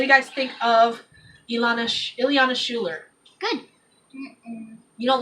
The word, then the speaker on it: Schuler: Schuler. That, and It's not spelled the same. Schuler. Schuler. Oh. It's spelled Schuler.